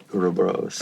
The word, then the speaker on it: Ouroboros: Ouroboros.